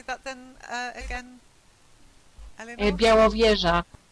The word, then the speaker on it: Białowieża: Białowieża, Białowieża, or Białowieża.